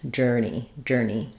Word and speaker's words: journey: Letters EY just simply say the E vowel like in eat, journey.